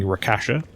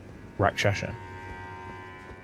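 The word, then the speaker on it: Rakshasa: and become rash Rasha I've been saying your name wrong I'm very sorry been calling Rasha that's like Kesha that is not correct you like the uh the Persona like entity rack shaser is that like a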